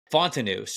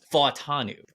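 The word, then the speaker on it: Fashanu: I've been saying Fontanus, or so I was always saying like the emphasis on the back part of the world, but I guess it's Fatanu.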